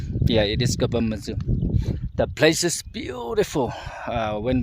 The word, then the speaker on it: Kapamodzu: Hello everyone, welcome to Kapamodzu. Kapamodzu. I don't know how to pronounce. Yeah, it is Kapamodzu.